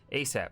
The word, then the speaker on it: ASAP: response is yes sir asap pronounced a sap an acronym as soon